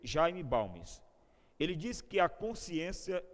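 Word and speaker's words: Jaime Balmes: consciência da pessoa acerca da fragilidade da consciência pronuncia-se jayne balmes ele diz que a consciência é uma âncora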